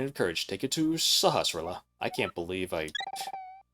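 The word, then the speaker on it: Sahasrahla: Take it to Sahasilla.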